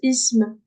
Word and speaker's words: اسم: En fait, là, si tu veux, le alif ici, on le prononce pas. Pas, D'accord. on le prononce pas parce que, en fait, de base, ism.